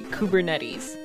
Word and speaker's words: Kubernetes: how to pronounce it most people say kubernetes right and which is the way i've always heard it so i i but